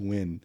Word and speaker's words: Nguyen: way and then and until I got married my dad was like no it's a win oh you pronounce it